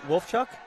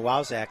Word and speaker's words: Wolfchuk: How do you pronounce that? Wolfchuk? Wolfchuk, yeah. I've been calling him a Wowzak all week.